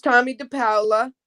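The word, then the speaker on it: Tomie dePaola: His name's Tommy DePaola. That's how we pronounce it.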